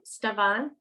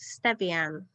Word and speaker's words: Stevian: to ask um is do you pronounce your name stavan um it's pronounced stevian oh estevian my apologies